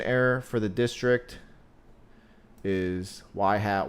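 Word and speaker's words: ŷ: XI for that instance Y is pronounced y hat for example if your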